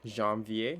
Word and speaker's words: janvier: janvier. Janvier. Sorry. Janvier. So you pronounce the J. Janvier. Janvier.